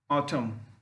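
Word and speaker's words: autumn: जैसे ऑटम, him, column, column, ये सब वर्ड ऐसे हैं कि जिसमें एन का उच्चारण नहीं करते हैं।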